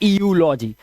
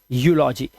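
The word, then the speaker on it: eulogy: क्या है, Europe, and ईयू यहां पर भी है यूलॉजी, ना कि ईयूलॉजी, इट्स यूलॉजी, ठीक है, यूलॉजी।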